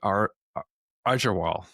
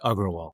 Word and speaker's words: Agrawal: My guest today is Aaral. Am I pronouncing that correctly? It's Agraal.